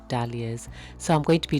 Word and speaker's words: dahlias: They are also pronounced day-lias, but in this video I'm going to pronounce them dahlias.